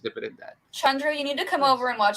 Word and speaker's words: Chandru: It's Chandru. She's Chandru, yeah. So Yeah, the D is it's a DH, so it's a the sound instead of Chandru.